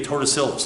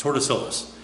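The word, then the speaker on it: Tordesillas: because of the treaty of Tortoisilus. I'm mispronouncing it. It's Tortoisilus.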